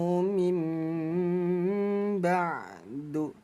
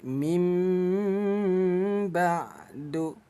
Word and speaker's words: min ba'du: Ada nun sukun bertemu ba, ini hukum bacaan iklab. Nah, cara bacanya nun ini kita tukar menjadi bunyi M. Jangan dibaca min ba'du, tapi mim ba'du. Rapatkan kedua bibir ya.